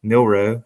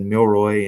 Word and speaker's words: Milroe: I had one where I mispronounced Jaylen uh milroe I said Milroy and about over a